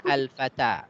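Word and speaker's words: فتًى: Fatan. Artinya pemuda. Kalau ada alif lamnya baru dibacanya al-fata. Tapi kalau tidak ada alif lamnya kita baca fatan.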